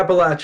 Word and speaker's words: Appalachia: little bit but yeah appalache is the right way to say it I believe I'll never